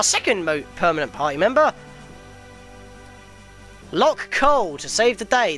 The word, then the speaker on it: Locke: to save the day the E is silent once again that seems to be a lot of this in the game Nash and then lock it's not nashy or locky but yes why was